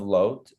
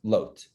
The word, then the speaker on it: Lot: Moab is one of the children of Lot, or Lot, depending on how you want to pronounce his name. I'll go Lot because that's the Hebrew pronunciation is Lot.